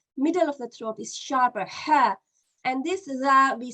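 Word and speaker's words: ذ: The difference is that this is pronounced very similar to tha, but there's more vibration. Za, we say zalikal kitab. Okay, so this is the th sound, as in the word this is more vibration, and this one is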